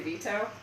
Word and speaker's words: veto: Also, have you ever noticed the way you say veto? You say it like it's a man's name, like Vito, like Uncle Vito.